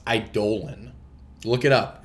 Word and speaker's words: Eidolon: burn spells you know maybe if this is idle on that's that's a lot more rough so funny